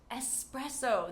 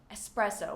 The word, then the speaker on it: espresso: Next, espresso. There is no X in espresso, and many native English speakers are guilty of creating an X here in this word, and it has no X, so espresso, one of my favorite things to drink.